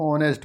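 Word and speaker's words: honest: fill in the black silent letter of ऑनेस्ट बहुत महत्त्वपूर्ण question में से एक है पूछा जाता है हर बार साइलेंट लेटर तो यहां पर एच जो है साइलेंट है तो यहां पर जो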